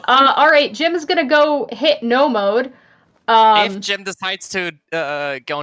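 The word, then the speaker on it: know mode: No mode is spelled K-N-O-W.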